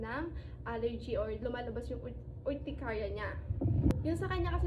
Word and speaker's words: urticaria: Way back 2023 na-diagnose siya na may orchitaria. Ewan ko kung tama yung pronunciation ko. So tamaan niyo na lang ako. Mommy, simula noon, na-diagnose siya nung 2023 na meron nga siyang ah urticaria.